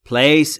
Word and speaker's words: place: Place یعنی مکان. در مورد تلفظ place دوباره P و L بینشون صدا وجود نداره، پس میشه place.